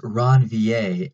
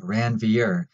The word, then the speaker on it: Ranvier: to pass on quick sidenote you'll hear a pronounced ranvier and not Ranvir because of the man who discovered it French